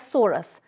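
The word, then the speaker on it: sorus: a sorai in singular we can say it or pronounce it as soros which may or may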